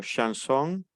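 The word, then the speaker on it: chanson: pronombre personal Sí sí sería como una s una H entonces nuevamente la pronunciación del vocabulario shansón pasamos al caso de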